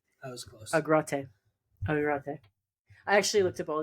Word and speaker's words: Agrate: Marco de Grate. That was close. Agrate.